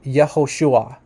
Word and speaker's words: Yehoshua: says here, that the classical pronunciation, which means like the pre-exilic name of Yeshua, is actually Yehoshua.